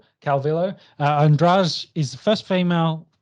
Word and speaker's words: Calvillo: Calvillo.